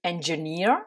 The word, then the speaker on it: engineer: ça donnit en anglais engineer he avec deux œufs à la fin qui font en sorte que vous allez mettre l'accent sur cette dernière syllabe la foire ça vient